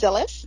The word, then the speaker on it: Dhylles: My first name is pronounced Dhylles, Dhylles. Dhylles, like Phyllis, with the D instead of a P, so Dhylles.